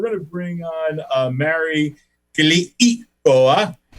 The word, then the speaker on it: Keliikoa: But right now, listen, folks, we're going to bring on Mary Keliikoa. How was that? I pronounced that second I. Keliikoa.